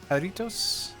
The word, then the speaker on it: Jarritos: Oh, it's pronounced H. Oh yeah, well if it's absolutely. They have them up here in Canada, so it's more like jarritos, probably with a double R.